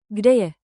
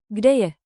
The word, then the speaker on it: Kde je: Gde je? Think K D A. Short, clear, friendly. Rhythm trick. Gde je?